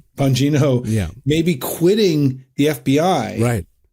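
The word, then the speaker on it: Bongino: But we just had reports, you know, on Friday that and I'm going to mispronounce his name, Dan Bangano. Bangino. Bangino may be quitting the FBI, right?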